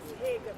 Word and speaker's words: Hagen: Actually, it's Hagen, like Hagenstown here in Maryland.